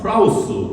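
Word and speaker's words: πραΰς: 보게 됩니다 원래 오유라 하는 말의 시라는 어 프라우스 아고 발음합니다 이것을 한글로 번역할 때는 사려 깊은 부드러운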